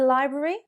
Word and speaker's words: library: But library is the correct pronunciation. So, do you often go to the library?